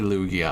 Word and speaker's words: Lugia: a lugia uh lugia it's officially lugia i hate it it's illusia lugia is what i always pronounced it as um but yeah